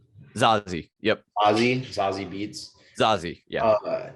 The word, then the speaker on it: Zazie: Zazie.